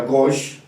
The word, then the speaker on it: gauche: Gauche, que se describe literalmente gauche, pero se pronuncia gauche, ¿no?, significa izquierda.